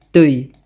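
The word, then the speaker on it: ты: Kamu jadi tei.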